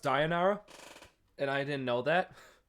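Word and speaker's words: Deianira: he even injured the love of his life diera in order to save her it's actually pronounced dianara and I didn't know that I was just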